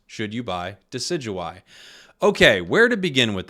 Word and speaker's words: Decidueye: answer for you confusing should you buy decidueye it rhymes should you buy decidueye okay where to begin